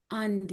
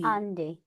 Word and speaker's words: Adi: it's because it's a the consonant is d you have to add an n towards it. So it's andi andi. Yes. But it's spelled as adi.